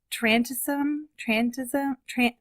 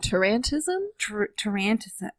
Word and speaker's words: tarantism: could have been was trantism. I should have figured out how to say these words first. Trantism? Trantism, like tarantula. Oh, tarantism? Tarantism.